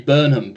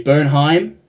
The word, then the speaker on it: Bernheim: I always say this wrong because I want to say Burnham, but I think Bernheim. The Americans say Bernheim. Correct.